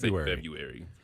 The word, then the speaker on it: February: with the r iary February I think the r is silence isn't it February some people say February February February it's right in between that is a tough